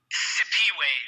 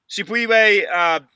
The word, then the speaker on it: Siphiwe: Siphiwe. The H is silent. Siphiwe.